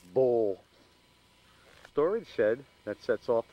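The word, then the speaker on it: Buhl: as you can see that says bu HL pronounced Bowl storage shed that sets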